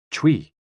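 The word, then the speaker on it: chui: associated with the lungs c-h-u-i pronounced like tui with a forceful exhale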